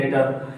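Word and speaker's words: debtor: इसको क्या बोलेंगे, डेटर, क्या बोलेंगे, डेटर, क्या बोलेंगे, डेटर, डेप्टर नहीं बोलते हैं, क्या बोलते हैं, डेटर।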